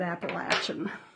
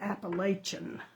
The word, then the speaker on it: Appalachian: If you're from North Carolina, you know to pronounce that Appalachian instead of Appalachian.